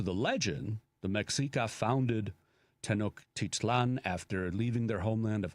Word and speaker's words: Tenochtitlan: So Mexico City originally was Tenochtitlan, if I'm saying it right, Tenochtitlan, which was the capital of the Mexica, which we call the Aztecs, but that was never really their name.